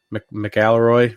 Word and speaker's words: McIlroy: McIlroy, Rory, oh god, how do you say his last name?